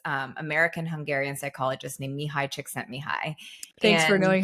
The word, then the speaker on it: Csikszentmihalyi: coined by this American Hungarian psychologist named Mihai Csikszentmihalyi. Thanks for And knowing how to say his last name. I had to learn as I Chick was writing sent the me book. high. Csikszentmihalyi.